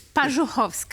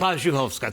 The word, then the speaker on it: Parzuchowska: It's Parzuchowska, actually. Parzuchowska.